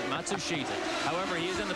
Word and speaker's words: Matsushita: By the way, that's the pronunciation that now Hero himself has asked all the announcers to use. We know it's not the same pronunciation that the family uses or he uses in Japan, but it's what he wants.